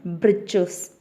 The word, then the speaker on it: breeches: is the third one, breeches. Breeches we can say as breeches or short trousers. Here, that is the writer in this prose here spells it for fun to rhyme with the word witches.